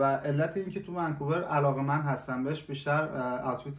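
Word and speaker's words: Vancouver: مثلاً بشه ونکوور اصلاً خود ونکوور م غلطه ونکوور باید تلفظ استرسش بذاری روی وسطش یا ما داریم ۹۰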